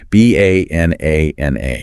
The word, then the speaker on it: banana: In the word banana, the rhythmic stress, the punch lands solidly on the middle syllable, NN.